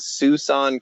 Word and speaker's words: Siouxon: It's called Suisun Creek. It's spelled Siouxon, and it's down near Mount Adams, closer to Portland than to Seattle.